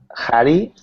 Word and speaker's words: hurry: Hurry. Right. It's hurry. Hurry. Good. Now be careful, not hurry, but hurry. Hurry. There's no rolled R there.